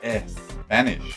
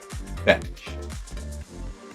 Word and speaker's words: Spanish: Y acuérdate, como te dije, que la pronunciación de las palabras que empiezan por S no se dice Spanish, sino tienes que intentar pronunciar la S directamente. Spanish.